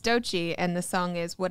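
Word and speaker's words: Doechii: here been a month yeah we have to do it today we're not skipping that so uh bear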